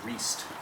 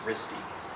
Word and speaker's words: Riste: I thought it was Riest, but it's Risty.